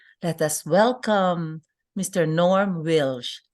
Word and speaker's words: Wielsch: us welcome Mr Norm wilsh did I uh pronounce it correctly your last name yes wilsh is fine yeah wilsh okay thank you thank